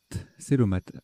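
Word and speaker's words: cœlomate: Je pense que c'est Kélomaté. Kélomate. Célomate. Célomate. Oui, bah oui.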